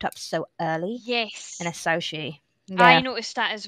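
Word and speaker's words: Asauchi: early in the series, and that's the word asaushi. I think I'm pronouncing that right.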